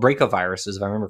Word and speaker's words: bracovirus: And what's cool is some caterpillars survived that encounter because those viruses, which are called bracoviruses, if I remember correctly, it's BRACO, bracovirus, are in butterflies now, or in lepidopterans, I should say, more broadly.